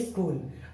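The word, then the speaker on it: school: हमारा दूसरा नियम है सी के बाद एच हो तो एच साइलेंट होता है। जैसे कि स्कूल, अब एस सी H double L, सी के बाद एच आया।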